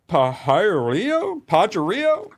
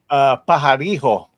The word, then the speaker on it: Pajarillo: Mark Pajarillo? Oh, wait. Yeah, no, Badger, you're Latino. You pronounce it for us. Pajarijo.